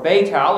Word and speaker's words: Bethel: the south even to Bethel, or Betel, as it's called in the land, unto the place where his tent had been at the beginning, between Betel and Ai.